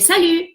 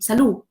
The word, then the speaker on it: salut: En vez de salut, we say salud, ¿no?